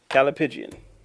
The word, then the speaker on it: Callipygian: Calipigian.